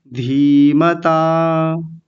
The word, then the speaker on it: धीमता: देखिए बड़ी की मात्रा है तो हल्का सा लंबा खींचेंगे, धीमता।